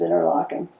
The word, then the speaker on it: Interlaken: borough in Interlaken Switzerland I'm one of the few people who still says interlocking that's ER I can't help it that's the way it's supposed to be pronounced but nobody knows that so secret so tell